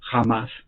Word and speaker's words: Hamas: Número uno, lo que aconteció con Israel ayer por el grupo terrorista islámico con H se pronuncia con J, Hamas, que son prácticamente siglas que en árabe significa el partido de Dios.